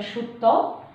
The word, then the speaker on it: Sutta: In Pali pronunciation, Sutta, we say in Bangla, Sutra.